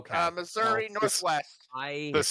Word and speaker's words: Missouri: I'm in Missouri. Okay. Uh Missouri Northwest. I the the state that rhymes with misery.